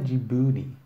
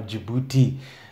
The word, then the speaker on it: Djibouti: It's not Djibouti. There's no way the locals would pronounce it in such an American way.